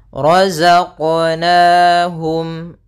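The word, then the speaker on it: رزقناهم: yaitu Mad thbii'i kemudian rozaqnaahum ro ro tebal yaitu ro tafkhim ditandai dengan ro yang berharakat fathah kemudian Za sempurnakan Za ya Za Za dia ada sifat yang namanya sifat ee jahar dan dia sifat rakhawah ya Za itu rakhawah artinya suaranya mengalir tapi nafasnya tertahan roq Kemudian pada lafal qf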